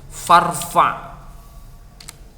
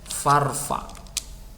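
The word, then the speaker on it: فارفع: Nah, irfa itu asli, kalau misalkan ditambahi fa, ya fa kemudian ditambah dengan kata irfa, maka itu dibacanya menjadi farfa. Nah, menjadi farfa. Hamzahnya tidak dibaca.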